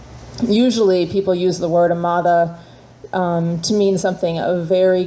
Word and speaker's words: Amada: a ma D a so it looks like Amata but it's Spanish so the G has a th pronunciation a very soft D they call it it's it's a Castilian pronunciation so it's a mother